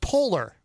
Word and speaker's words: Poehler: I believe it's pronounced Polar.